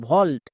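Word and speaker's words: vault: আরো কয়েকটি ওয়ার্ড দেখো ভি এ ইউ এল টি ভল্ট এখানে এ এবং ইউ আছে তাই এর জন্য ও সাউন্ড হয়েছে নেক্সট সি এর জন্য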